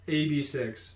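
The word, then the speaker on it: AB6IX: Pronounced AB6.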